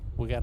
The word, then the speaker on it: Geaux: So we got a got a few special guest today.